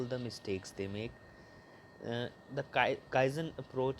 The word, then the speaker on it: Kaizen: It is pronounced as Kaizen.